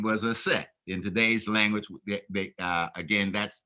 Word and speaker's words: Aset: Her name was Aset. In today's language, again, that's the correct pronunciation of her name.